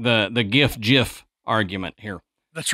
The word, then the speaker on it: GIF: Like the GIF argument here. That's right. It's GIF, by the way, graphic. It's not giraffic interfacing.